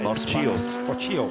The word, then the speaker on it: Mocciello: Moccio. The double L is like a Y.